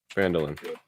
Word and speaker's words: Phandalin: How do you spell that? Phandlin. Taking notes. Say it one more time. Lin. Phandalin.